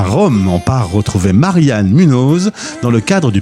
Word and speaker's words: Marianne: Alors je leur prononce toujours Marianne, puisque le E se prononce E, parce qu'autrement c'est la catastrophe. Mais en fait, Mariana existe en italien, donc je me transforme souvent en Mariana.